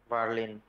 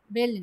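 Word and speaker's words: Berlin: জি, এটা বার্লিন। বার্লিন। বের্লিন না, বার্লিন। এ আর একসাথে আছে না, এ এবং আর একসাথে থাকলে আ উচ্চারণ হয়, বার্লিন।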